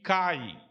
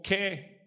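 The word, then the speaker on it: καί: Você tem uma conjunção coordenativa aditiva, que é este kai. Para quem já sabe ler o grego, é facinho. Lê kai na pronúncia erasmiana, ou ke na pronúncia restaurada.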